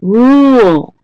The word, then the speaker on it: rule: Rule. Blue moon rule. So rule is also, it's spelled differently, but it's an ooh, blue moon.